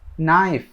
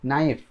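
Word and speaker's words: knife: আচ্ছা, এরপর হচ্ছে নাইফ, এখানে কে নাই কিন্তু, কে উচ্চারণ নাই, নাইফ মানে ছুরি।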